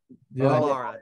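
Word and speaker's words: Elara: And thanks to Mike and Alora. Did I pronounce it correctly? Alora, you bet.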